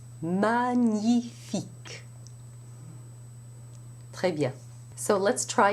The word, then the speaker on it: magnifique: In French, you don't have that separation of sounds at all. It is one single sound, and it's pronounced in the central part of the mouth. Gn. Magnifique. Magnifique.